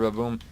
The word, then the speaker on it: Bbaboom: I'm pronouncing it Baboom. There isn't actually another A. I'm just saying it because the English language doesn't like two consonants. Like B's, anyhow.